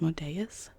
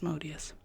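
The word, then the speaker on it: Asmodeus: I've also heard it pronounced as modus which also makes sense but I think the more common pronunciation is as modius and there you get a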